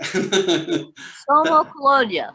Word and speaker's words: Sommocolonia: Sommocolonia. Sommocolonia. Sommocolonia. So it originally came from the Latin, meaning highest colony. Summa Colonia was in the Latin.